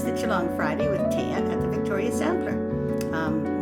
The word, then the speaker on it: Thea: It's the Geelong Friday with Taya at the Victoria Sampler. My name's Taya, and by the way, you spell it Thea.